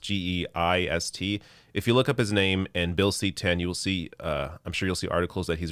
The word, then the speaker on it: Geist: I believe his last name is pronounced Geist.